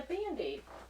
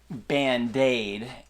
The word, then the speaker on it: Band-Aid: No, you say Band-Aid, but it's a Band-Aid. She's putting the emphasis Band-Aid. Emphasis Band-Aid. on the wrong syllable.